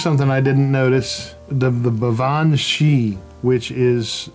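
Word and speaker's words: Baobhan Sith: The Bavan Shi, which is spelled in English Balban Sith, but it's not.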